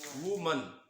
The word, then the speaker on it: woman: इसको कैसे प्रोनाउंस करते हैं? वुमन. क्या बोलते हैं इसको गाइस? इसको हम बोलते हैं वुमन.